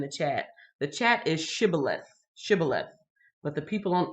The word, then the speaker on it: Shibboleth: you see in the chat the chat is Shibboleth Shibboleth but the people don't eat from side they couldn't pronounce that so they says sibilance sibilance and yeah now we're all caught up